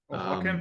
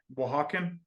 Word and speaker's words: Oaxacan: Oaxacan? Starts with an O, but it's pronounced with the W. What was that? Oaxacan?